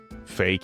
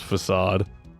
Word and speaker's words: facade: Side note, did anyone else read it as fake? It's like using wacko as your basis for pronunciation. When I was younger, I definitely called it fake or fade. Not not how you pronounce facade.